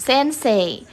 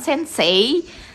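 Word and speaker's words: 先生: Indonesia oleh orang asing Terutama ketika menyebutkan Sensei itu bukan Sensei gitu ya pakai Y bukan Sensei atau Sensei bacanya tapi lebih kayak huruf E tapi ditarik gitu jadi kayak Sensei gitu ya minaha bisa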